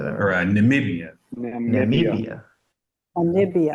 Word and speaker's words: Namibia: SP that say that Namibia namia Amia thank you Namibia swah you pronounce all the letters yes Dad thank you